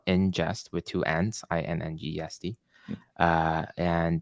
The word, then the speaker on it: Inngest: There's this third one that's called Ingest. It's a new platform that allows you to handle background jobs and queues super efficiently. It's spelled Ingest with two N's, INNGEST.